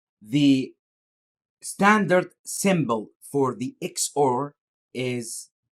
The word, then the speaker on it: XOR: the exclusive-or or simply can be pronounced as an the X or so the X or